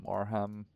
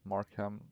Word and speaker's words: Marham: Is it Maram? Markham. Let me see. RAF. Uh, totally blanking. Uh, it's Marham, I think. More. Not sure if I'm pronouncing it correctly.